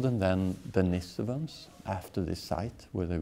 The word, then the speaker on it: Denisovans: Like Denisovans. Je le prononce bien?